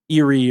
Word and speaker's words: eyrie: It's Yeah, an like airy. It's an A-E-R-I-E. Yep, Eyrie. Eerie or Or I.